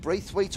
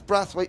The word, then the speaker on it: Brathwaite: scripture and tell them tell Henry it's breath wait not Braithwaite it's spelled brathwaite I'm